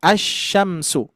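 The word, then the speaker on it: الشمس: Terus berikutnya kalau misalkan kita menemukan syin maka ini huruf syamsiyah maka langsung saja kita idghamkan cara bacanya asyamsu. Asyamsu idgam kan ya. Lamnya kan enggak dibaca gitu ya.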